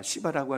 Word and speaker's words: 시바: 시바라고 하는, 이 발음을 잘 하셔야 돼요.